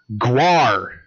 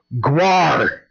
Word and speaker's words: Gwar: The alien overlords themselves, Gwar, and that's how it's properly pronounced, Gwar, is also coming to the gathering of the Juggalos.